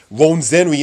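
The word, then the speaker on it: Rwenzori: So for those who care to reference it, Ronzenri is spelled as Rwenzore.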